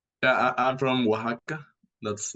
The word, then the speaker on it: Oaxaca: Yeah, I'm from Oaxaca. That's how it's pronounced, Oaxaca, Oaxaca, Mexico.